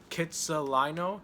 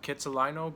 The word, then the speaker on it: Kitsilano: area it was called Kitsilano Kitsilano Beach it's like a kid salon I was also like an area I think that's how you pronounce it and the beach part